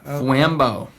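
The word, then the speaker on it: Fwambo: you know f w a m b o flambo it's real easy to spell how it sounds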